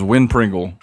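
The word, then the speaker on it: Wynn Pringle: His name is is Win Pringle. Wind Pringle. Winringle. But it's spelled W Y N. So it's fantasy.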